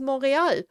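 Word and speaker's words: Montréal: um uh Montreal and I only recently realized that it's actually a French word and the real pronunciation is moral so the Royal Mountain I mean like when I figured this out it was like literally my my head exploded I went like what I mean it's like I have always pronounced it the wrong way I have also read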